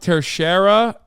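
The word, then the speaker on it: Teixeira: he got vac banned IRL yeah true it's pronounced tershera not that it matters sorry some people leak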